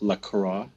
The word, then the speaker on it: La Croix: exploring the cult of lacroix yeah does it pronounce that right there are two ways of saying it many people who are fancy like to use the french way to go with lacroix and then there is